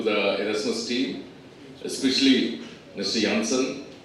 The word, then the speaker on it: Janssen: Janssen. We've been pronouncing it wrong. J should be pronounced as Y in Europe.